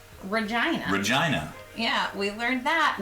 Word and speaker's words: Regina: al had first said it rhymes with the female body part and i was like